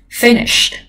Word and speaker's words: finish: Finished, finish cái này từ này cũng khá là quen với các em đúng không, nó là trọng âm một. Finish đuôi ish rất ít khi có trọng âm.